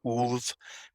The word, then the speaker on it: Ulfhednar: The D is a horrible representation of the Old Norse D, which is actually pronounced as a TH. Okay. And then the F, of course, when sounding it out, comes out as a V in Old Norse. So it's Ulfhednar.